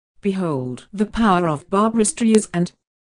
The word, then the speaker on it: Streisand: with NPR in 2016 stre is and with a soft s like sand on the beach I've been saying this